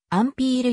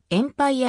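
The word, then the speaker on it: Empire: 支持され続ける名称は訂正を意味するフランス語エンパイアーの発音からアンピール様式また英語読みでエンパイヤ様式と呼ばれることもある西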